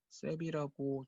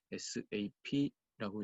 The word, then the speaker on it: SAP: 간혹 파트너분들 중에서 이 SAP 발음을 셉이라고 줄여서 발음하시는 분들이 간혹 있으실 수 있는데, 그러면 이제 SAP 코리아 직원분들이나 관련 비즈니스를 하시는 분들이 들었을 때는 이게 기분이 나쁠 수가 있기 때문에 반드시 SAP라고 읽어주셔야 되겠습니다.